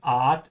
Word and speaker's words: Art: In English, the A is a bit closed. You say Ort, yeah. In German, it's more of an open A, like when you go to a dentist and the dentist says, open your mouth wide. A. So open it from the outside here and the inside to say Art Aroma.